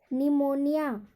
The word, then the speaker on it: pneumonia: PNEUMONIA, निमोनिया, निमोनिया, यहाँ पर भी पी का उच्चारण नहीं होगा।